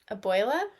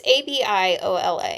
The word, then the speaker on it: Abiola: Abuela? I don't think that's abuela. It's Abiola.